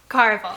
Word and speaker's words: Caraval: for telling me that i think it's caraball carnival caraval that sounds right maybe we're gonna go with